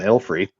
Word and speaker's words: Ilfrey: For a while, you were not pronouncing the L in Ilfrey. It was just not Ifrey.